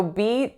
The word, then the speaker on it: beat: So beat is pretty straightforward. It only has one vowel, one syllable. And that vowel, again, is that moving E that we've seen a few times today, like in the word sweet. So make sure it's not pure.